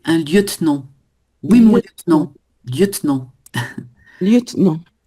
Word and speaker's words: lieutenant: Liutenant c'est un e mué lieutenant.